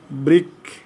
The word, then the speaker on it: বৃক্ষ: এই দেখো বৃক্ষ তাহলে রিকার আছে এর ক্ষয়ের সাথে ও হচ্ছে তাহলে উচ্চারণ এরকম হবে বৃক্ষ বৃক্ষ বৃক্ষ ঠিক আছে